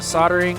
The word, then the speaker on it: soldering: So I warmed up the soldering iron. Soldering. I always say soldering. I know it's spelled S-O-L, but I always say like S-A-U or something. Soldering iron.